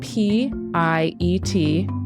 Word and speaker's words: Piet: Just so you know, Piet's first name is spelled P-I-E-T.